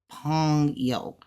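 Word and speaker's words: 朋友: is so this is Pongo pong pong yo pong yo it spelled like U but it's pronounced yo just drop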